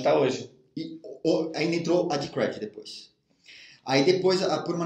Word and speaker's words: Decred: Seguinte, a pronúncia certa é Decred.